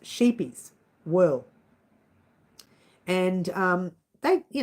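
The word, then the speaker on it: Scheepjes: know how to say this but it's actually pronounced sheepies a lot of people call it sheep G because it's got a J in there but it's pronounced sheepies will and um they you know they're not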